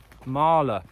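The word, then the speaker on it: Mæhle: sanchez has won um ah marla marla that's how you say his name marla right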